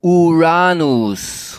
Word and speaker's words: Uranus: Thomas, it's pronounced Uranus.